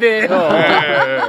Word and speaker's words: 조희대: 여기에서 제가 조이대? 조이대예요.